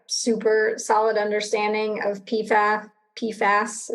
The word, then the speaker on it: PFAS: solid understanding of pifa pfas is that how you say it yeah well you could say it for fluoridated chemicals or pfas pfas is just what everyone will understand let's say i'm putting